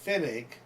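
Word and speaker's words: Pfennig: Why do they even need the P there? If it's going to be pronounced Finnig, just drop the P.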